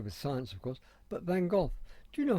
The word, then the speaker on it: Van Gogh: Now, why I am very involved with Van Gogh is because in Dutch, my name and his are pronounced identically. It's Van Gogh.